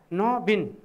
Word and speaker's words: नवीन: न उइ दीर्घ लेखिन्छ, तर उच्चारण गर्दा न बिन अक्षर संरचनाको आधारमा द्विअक्षरी शब्द हो यो। न बिन ब उच्चारण हुन्छ, यसरी उच्चारण गर्नुपर्छ न बिन।